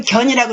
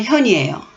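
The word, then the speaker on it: 見: 그런데 그렇게 도가 있으면 이건 견이라고 읽으시면 안 됩니다. 나타날 현이에요. 천하에 도가 있으면 나가야 된다는 얘기예요.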